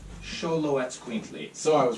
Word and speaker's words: Xoloetzcuintli: It's actually pronounced Xoloetzcuintli. Xoloetzcuintli.